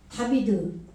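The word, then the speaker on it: דוד: 때문에 다윗의 열쇠가 예 다비드 그러면은 비드 이렇게 될 거 아니에요 그죠 요게 이게 이게 이제 이음 발음도 나오고 비읍 발음도 나오는 거예요 그래서 다윗 어 다비드 이렇게 되는 거죠 예 그러니까 말씀에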